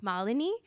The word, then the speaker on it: Malinee: My role with SAP is I work as an HR business partner, and just so I pronounce my name correctly, so you all know it's Malini, and I work as an HR business partner,